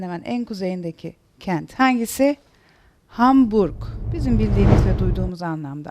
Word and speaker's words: Hamburg: en kuzeyindeki Kent hangisi Hamburg Bizim bildiğimiz ve duyduğumuz anlamda Ama esas okunuşu nedir Hamburg hurg r'yi Duydunuz mu Hayır yumuşak G gibi sadece uyu uzatıyorsunuz Hamburg Es bir sonraki harfimiz